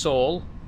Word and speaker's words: Saul: Uh, my name is pronounced Saul. Uh, rhymes with Paul.